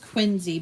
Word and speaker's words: Quincy: look on the map it's really pronounced it's pronounced Quincy but it's spelled Quincy like John Quincy Adams